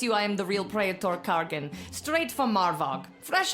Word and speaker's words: praetor: Not really the dignified behavior you'd expect from a praetor.